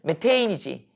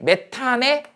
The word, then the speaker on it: 메테인: 메테인이지. 옛날에는 얘를 갖다 메탄이라고 읽었다고. 그러면 얘가 어떻게 됐다고? 짠짠짠짠 짠짠짠짠. 자, 단일 결합이죠. 뭐 우세하다고? 치환 반응이 우세하다고? OH는. 이게 메탄에 올이 붙은 거야.